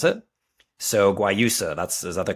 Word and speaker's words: Guayusa: So Guayusa, is that the correct term? So it's kind of a soft G, and then or is it just a Y at the beginning? Guayusa, pretty much. Yeah, Guayusa.